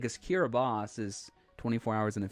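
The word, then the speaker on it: Kiribati: actually like right uh God Bush it's actually pronounced kiraboss East Mountain films said that pronunciation on this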